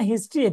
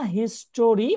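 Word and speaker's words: history: যেমন আপনি একটু আগে বললেন না হিস্টোরি, ওটা না আমরা বলবো হিস্ট্রি।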